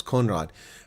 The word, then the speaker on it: Conrad: I'm pronouncing your name wrong. It's Conrad.